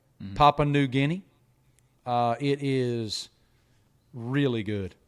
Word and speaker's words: Papua New Guinea: from papua new guinea how do you say that papua new guinea papa popular yeah okay papua new guinea uh it is really